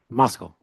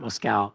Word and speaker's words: Moscal: Moscal, not Moscal.